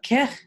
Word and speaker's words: Kej: Grandmother, apparently I was saying the name wrong of the day of Rosh. Is that Kech? I beg your pardon. Is that it? Yeah, yeah, Kech. yeah.